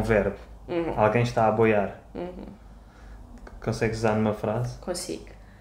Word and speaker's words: aboiar: Aboiar. Uma coisa que está a boiar. É uma palavra. Aboiar. Não é a boiar, é aboiar. Mas como é que isto se escreve?